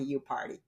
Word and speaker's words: Yupari: Um my last name is spelled like yu p a r i and it is pronounced like I party, you party.